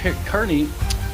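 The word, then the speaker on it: Kearney: over uh Mark Beto's letter regarding um Aiden Kerney I've been corrected with the pronunciation thank you uh and um we read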